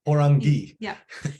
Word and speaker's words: Parangi: It's pronounced pour, like pour tea, on, and then ghee. Like clarify better. Parangi.